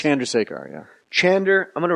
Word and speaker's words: Chandrasekhar: He says, think of John drives a car. That's the closest you can get. John, then just say it fast. John drives a car. Chandrasekhar.